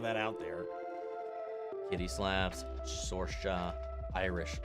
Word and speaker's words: Saoirse: Then you should go to Google to actually learn to pronounce Sorsha. There's one actress named Saoirse Ronan.